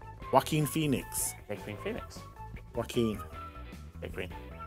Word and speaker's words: Joaquin: one okay we'll answer it i think it's hacking phoenix no it is it is because i've seen the film it's not it's jay quinn phoenix no it's that's how you say his name philistine joaquin joaquin phoenix phoenix joaquin big green still got it